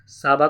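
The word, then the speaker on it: Csaba: चलिए फिलहाल ऑप्शन से आपके साबा क्रोसी, सी साइलेंट है यहाँ पे, Dennis Francis, Antonio Guterres, Ajay बंगा।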